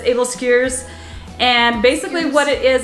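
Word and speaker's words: æbleskiver: making able skiers which if you look at it you would want to phonetically sound it as able skivers because that's how it's spelled that's able skewers and basically what it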